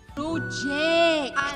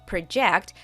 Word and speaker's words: project: The verb project and the noun project have the same spelling but are spoken differently. Notice how the emphasis is put on different syllables.